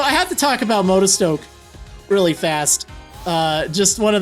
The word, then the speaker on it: Motostoke: sword and shield towns I always would call this moto spoke like the spoke of a tire or something like on